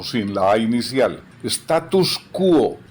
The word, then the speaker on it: status quo: Status quo, sin la S final.